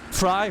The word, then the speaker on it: Fry: Fry rhymes with die.